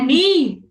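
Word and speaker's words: knee: Iya, dengkul itu bacanya ni. Oke. K ka terus belakangnya konsonan itu K-nya enggak dibaca. Eh, silent. Silent letter namanya.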